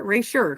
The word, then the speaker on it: Erasure: Yeah, The next book, Percival Everett's Erasure. Am I saying it right? Erasure, sure, right? It's a ratio, yeah.